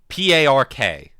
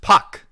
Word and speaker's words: Park: It's puck because the the British use the letter R as like a vowel modifier because they're like a like and they're like, "Oh, yeah.